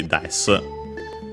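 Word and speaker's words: です: In polite speech would be des. As a reminder again, the su and then the is barely heard, if at all in this case usually, because it's at the end, usually because of its copula at the end of the sentence, and it has an unvoiced consonant before it.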